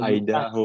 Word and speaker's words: Idaho: Nah, ini bacanya gimana? Idaho atau Idaho? Gue juga nggak tahu. Kalau Idaho, Pak.